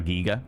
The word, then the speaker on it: Giger: Phonetically? Yeah, it's Germanic. So, it has that E sound. HR giga.